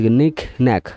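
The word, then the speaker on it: knick-knack: কে এন আই সি নেক, ন্যাক, নিক ন্যাক মানে ছোটো খাটো, নিক ন্যাক মানে ছোটো খাটো।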